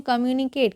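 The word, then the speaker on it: communicate: Okay, इसको पढ़ते हैं कम्युनिकेट। क्या पढ़ते हैं? कम यू नी केट, कम्युनिकेट।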